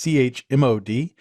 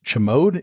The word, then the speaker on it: chmod: That's CHMOD, and it's short for change mode. So I guess you could also pronounce it as chmod if you prefer, but I call it chmod.